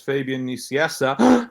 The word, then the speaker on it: Fabian Nicieza: You can access it through my website, which is Fabian Nicieza. That's how it's pronounced.